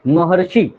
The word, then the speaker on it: महर्षि: इसी कारण से जब बोलेंगे तो ह के बाद ही अर बोलेंगे, ह के बाद ही हम लोग क्या उच्चारण करेंगे, अर का उच्चारण करेंगे। म ह र, म ह र शी, महर्षि, महर्षि, ठीक।